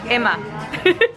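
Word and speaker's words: HEMA: how would they pronounce himma in Spain Emma I don't think they pronounce the h so it's like Emma actually I just asked someone who works here and and he said Emma Emma for all my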